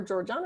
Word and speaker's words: Georgia: Is it Georgina or Georgiana, or how do you say it? Georgia. You just say Georgia.